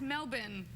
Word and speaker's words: Melbourne: Oh, that's You almost say it right. It's Melbourne.